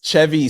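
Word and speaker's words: Chevi: It's Chevy, c h e uh v i, not y.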